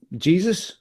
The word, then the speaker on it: Jesus: he might be preferring Jesus instead of Aguero. How'd you pronounce it? Jesus, right? That's what I was told when I was a kid. Jesus, Gabby Jesus. Yeah, Jesus.